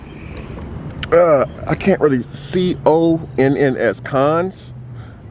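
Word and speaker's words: Conn's: It's called, I can't really, C-O-N-N-S, Cons. I think it's Cones or Cons.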